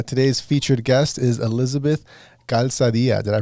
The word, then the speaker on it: Calzadilla: podcast today uh today's featured guest is elizabeth calzadia did i pronounce that right you did good job probably